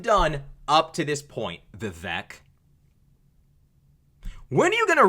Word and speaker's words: Vivek: But see, the fact that you're Indian, or my bad, an Indian supersedes everything else you've done up to this point, Vivek.